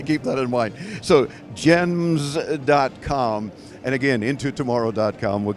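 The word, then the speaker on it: Gemns.com: right you no no I had to put the n in there so it was unique and it is and it's silent the N is silent okay we have to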